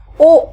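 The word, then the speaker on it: を: अच्छा, लिखा ये वो जाता है, हमने पढ़ा था हिरागाना में वो WO, अगर मैं इंग्लिश में बताऊं तो, बट वो होता है ये, पर प्रोनाउंस इसको ओ किया जाता है, तो ये आपको ध्यान रखना है।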